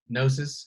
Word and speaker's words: gnosis: meets Tommy knows Genesis gnosis silent G and then teaches Tommy